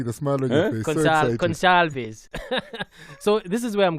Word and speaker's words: Gonçalves: Yes, I learned how to pronounce it while I was there. I can see the smile on your face. Gonçalves.